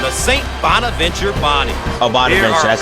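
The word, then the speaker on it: Bonaventure: Oh, Bontventure, that's how you pronounce it.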